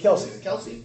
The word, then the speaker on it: Kelce: How do you pronounce it? Casey? Kelsey.